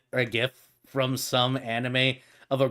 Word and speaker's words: gif: is called a gif you pronounce the gene not like a j it's a g pronounce it like a g don't ask me why